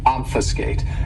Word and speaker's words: obfuscate: my favorites is obfuscate this verb has three syllables and the stress is on that first syllable obfuscate and and what it